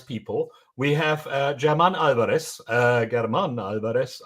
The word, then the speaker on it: Germán: Germán Álvarez. I don't know how to pronounce that properly. It's not German. We know that because he's Spanish.